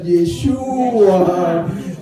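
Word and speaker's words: ישוע: Lo mismo pasa con Yeshua, con acento en la U, repitan Yeshua.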